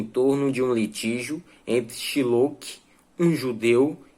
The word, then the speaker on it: Shylock: Essa pronúncia desse nome talvez não seja a mais correta, mas é a forma que eu encontrei de chamar esse cidadão judeu Shylock, ou é Shylock. No filme, às vezes, eles utilizam a pronúncia dessa forma, Shylock, mas eu fico no X mesmo, é S-H-Y-Lock, o nome do rapaz, então eu fico no Shylock mesmo, e eu espero que vocês